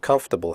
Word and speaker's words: comfortable: we say debt comfortable the word comfortable has three syllables not for the o.r is silent we say comfortable not comfortable comfortable clothes the final